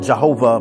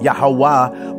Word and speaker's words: Yahweh: They pronounced God not Jehovah but Yahweh or Yahuwah, or that, but what they call